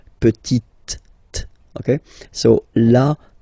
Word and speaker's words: petite: So I insist because here it's t, okay? So really you need to make the difference between the masculine form petit and then the feminine form petite, okay?